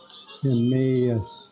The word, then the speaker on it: Emmaus: Emmaus.